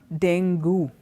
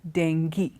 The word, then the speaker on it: dengue: of people down with this thing it's not dangu this grounds dengue it is not then go okay so dangu it is dengue and the last word be you are why